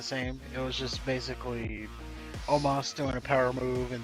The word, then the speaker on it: Omos: We got Braun Strowman versus Osmo. Oh, how do you say his name? Omos.